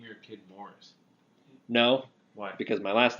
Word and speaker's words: Maurice: Maurice Morris. Yeah, Double the way name. that we pronounce Maurice is pronounced, or the word that we pronounce as Maurice is pronounced Morris in Ireland. Morris.